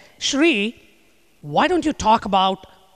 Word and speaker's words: Sri: myself as she said my name is Sri rhymes with tree if that's easier for